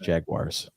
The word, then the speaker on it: jaguars: again yeah it's pronounced jaguars the jaguars that's how that's how david attenborough pronounces it and i'll pronounce it the same way just bought uh 42.